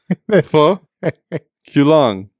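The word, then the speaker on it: Pho Cuu Long: Pho. Q. Long.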